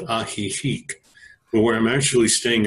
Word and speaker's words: Ajijic: Well, for the day I was with my girlfriend in a small town called Ajijic, but where I'm actually staying is a place